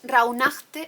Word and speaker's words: Rauhnacht: Entonces, Rauhnacht es un ejemplo, porque recuerdo que hubo un día que alguien me corrigió, porque los españoles tendemos a pronunciar la ch y en alemán no se pronuncia la ch, así que yo os